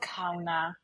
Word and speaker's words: Kauna: Oh, it's called Ka.